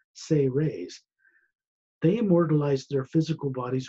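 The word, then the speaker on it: Seres: The Say Rays, S-E-R-E-S, pronounced Say Rays as if it was spelled S-A-Y hyphen R-A-Y-S, Say Rays.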